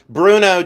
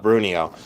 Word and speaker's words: Bruneau: But Bruno Jasper, so I'll say it. Bruno Jasper. I still love Brunio. Uh, it makes more sense phonetically. But then again, I say ordinary Chardinary when I go to order.